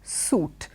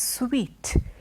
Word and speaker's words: suite: e this is not suit suit is what you wear when you have an e there it is sweet it refers to a